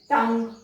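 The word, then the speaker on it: tongue: जी यू ई ग pronounce होता है। कैसे? टंग, डायलॉग, ऐसा ना टंग यू ऐसा नहीं प्रोनाउंस किया जाता है, वो ग प्रोनाउंस होगा।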